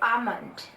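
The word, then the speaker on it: almond: में बोला जाता है आमंड आमंड यहां पर एल साइलेंट होता है आमंड मतलब बादाम नेक्स्ट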